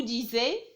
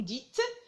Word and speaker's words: dites: dire ici avec vous on va pas dire vous disais non on va dire vous dites donc il faut faire